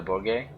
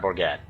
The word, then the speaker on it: Bourget: for international carol from the bourget the brigade it's right not borgette um i don't know